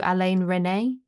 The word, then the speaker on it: Alain Resnais: Um so, yeah, I'm very excited to see this because it is Alain How do you say it? Alain Resnais? No, Alain Resnais.